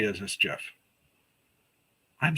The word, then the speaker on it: GIF: No, I do say it as Jif.